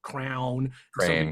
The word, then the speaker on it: crayon: talking about how like some people pronounce it Crown pronounce it cray this guy was like it's crayon and I'm so then